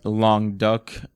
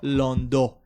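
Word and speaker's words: Languedoc: french white wine this is a savant white long duck regional uh to front to france i mean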